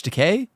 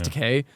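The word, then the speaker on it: Takei: the show is George teay really yeah it actually is George te or George teai I don't know how he say his name I think it's teay he's the voice of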